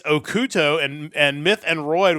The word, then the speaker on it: OxT: touring two Japanese bands that evidently I've been mispronouncing their names are I thought it was oxt it's okuto and and myth and Roid which is pronounced